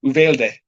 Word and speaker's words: Uvalde: like ooh not you so uvalde valdez or uvalde is correct yeah that could be the spanish pronunciation and if it's something else i don't